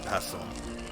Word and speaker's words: pestle: supposed to be said yeah pestle like the t is not pronounced tell that